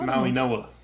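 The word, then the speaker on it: Mauigoa: My gosh, it's pronounced Maui Noah.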